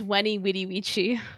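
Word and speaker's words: veni vidi vici: about Latin is that they pronounce it with a W it's weny witty Wii oh God which is unfortunate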